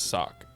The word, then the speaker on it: Sauk: The Sauk, I think it's Sauk, S-O-C, Indian tribe started. Yeah. Well, it's not spelled S-O-C, okay. sorry. Pronounced S-O-C.